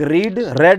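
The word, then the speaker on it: read: गया, B लग जाएगा, और रीड की तीनों फॉर्म सेम होती हैं, बस उसको प्रोनाउंस किया जाता है अलग, रीड, रेड, तो हो जाएगा आपको 2B रेड।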